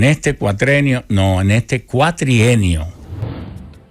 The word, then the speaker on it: cuatrienio: que no se dice cuatrenio no se dice cuatrenio se dice cuatrienio con una y cuatrienio o cuadrienio también puedes ir cuadrienio o cuatrienio pero nunca cuatrenio en este cuatrenio no en este cuatrienio